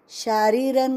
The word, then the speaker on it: शारीरं: ब्रह्मचर्यमहिंसा च शारीरं, शारीरं का री दीर्घ, शारीरं शारीरं तप उच्यते उच्यते, उच्च आधा च उसको य, ऐसे आसानी से बोलना है।